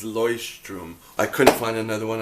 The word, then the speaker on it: Leuchtturm: I have one that is a mini Luchterm. Proper pronunciation is Leuchtturm.